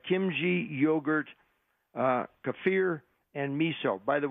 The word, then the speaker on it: kefir: another and other fermented foods like kimchi yogurt kefir and me so by the way it's ke F I are most Americans pronounce it either kefir or kefir it's pronounced kefir so anyway it goes on to say